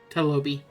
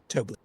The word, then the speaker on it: Tobli: Thank you, Talobi. I just wish you could say my name right. How do you say the name? Tobli. One more time, you cut out. Tobli. Tobli.